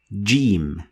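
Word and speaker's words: جيم: The letter is said as jim, and the sound is j sound.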